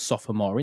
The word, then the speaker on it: sophomore: m o r e so it's actually spelled sophomore is it right but it is normally pronounce sophomore two two syllables right okay so